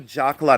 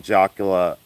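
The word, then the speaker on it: jacla: And then I have a Jakla necklace. I pronounce it Jakla because I'm Caucasian.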